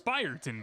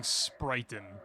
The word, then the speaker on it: Spireton: It's Spireton, by the way. I've been pronouncing it incorrectly. I've been saying Sprighton.